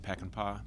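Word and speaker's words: Peckenpaugh: Please state your name and spell it for the record. Good morning. My name is Peckinpah.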